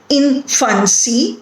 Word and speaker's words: infancy: So if you consider the word infancy, it has 3 syllables in it, and therefore the first syllable is stressed here.